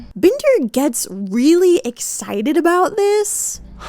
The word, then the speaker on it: Binder: time because his actual name is spelled B I N D E R. Binder. Now, if his name was Binder, I would say that's gay and I like it. But Bender, public execution.